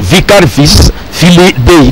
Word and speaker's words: Vicarius Filii Dei: Mais si on va bien prononcer ça en latin, Vicarius, il faut dire Vicarius Filii Dei.